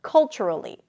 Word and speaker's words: culturally: Stress is on the first syllable. Culturally.